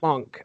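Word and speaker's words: Moench: on how to pronounce I think it's monk monk mo yeah kind of pronounced with a K Doug monk or money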